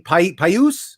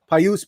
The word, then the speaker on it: Pius: rookie from chicago blackhawks i can never say his name pius sutter paius p-i-u-s sutter he three